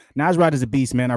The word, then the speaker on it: Nasrat: button but we here baby Dan hooker versus nazrat hasad I know I said it wrong nasrat is a beast man I really love his